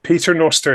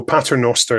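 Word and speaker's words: Paternoster: pick up on you correcting me with the pronunciation of P nosto that is the way Gary Russell that's Peter Noster is How Gary Russell had it because that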